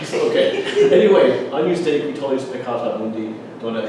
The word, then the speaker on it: Agnus Dei: So the first 2 words are Agnus Dei. Try it. Agnus Dei. Yeah, it's Agnus like onion.